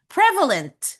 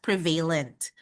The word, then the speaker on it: prevalent: Prevalent. Dati kasi pinopronounce ko siya as prevalent. But I was corrected kasi ang pag-pronounce pala nito is prevalent.